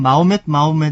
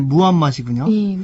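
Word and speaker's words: 무함마드: 하디스 지금 그 사도 우리 보통 그 어렸을 때는 마호멧 이렇게 배웠기 때문에 버릇이 되었는데 예, 원래 발음이 무함맛이군요.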